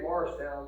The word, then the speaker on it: Mauricetown: It's spelled Mauricetown. We say Morristown, but it's a small